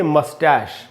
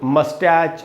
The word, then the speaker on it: moustache: इसको कई बार लोग मस्टैच, मुस्टैच ये सब पढ़ लेते हैं, वो सब गलत उच्चारण है। इसका शुद्ध उच्चारण है मस्टैश।